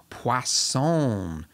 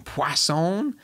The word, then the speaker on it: Poisson: distribution but something called poisson disk distribution poisson there's no w in it but i was told that's how you say it